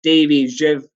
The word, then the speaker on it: Davy Zyw: what's your instagram tag my instagram tag is davey jeff please bear with me my um unusual polish surname but davey is spelled d-a-v-y-z-y-w um which my or my polish